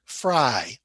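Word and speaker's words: frei: which is ich bin fry now f r e i and f r e y the family name are both pronounced fry but ich bin fry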